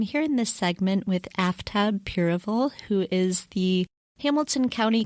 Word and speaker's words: Aftab Pureval: Hey everyone, this is Kelly with Two Broads Talking Politics, and I'm here in this segment with Aftab Pureval, who is the Hamilton County Clerk of Courts in Ohio and is running for the 1st Congressional District.